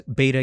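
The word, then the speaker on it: βήτα: And the same happened with the voiced consonants, beta, gamma, delta. In ancient Greek, this was b, this was g, this was d. In modern Greek, this is v, this is g, and this is the.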